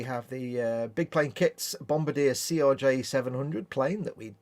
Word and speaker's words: Bombardier: Bombardier. Always sounds like it shouldn't pronounce the B in the middle.